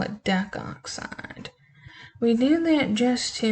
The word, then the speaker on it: decoxide: So, for example, if we have P4O10, we would not call this decoxide, we would just call it decoxide. We do that just to make the pronunciation a little bit simpler.